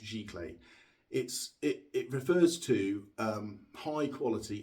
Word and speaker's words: giclée: It's pronounced giclée.